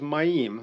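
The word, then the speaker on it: מים: So the word is ma'im. There's two M's in it, but they're mem, right? So it's M, yod, M. But the correct way to say it is mem, right? So mem, yod, mem. 3 letters, it's ma'im.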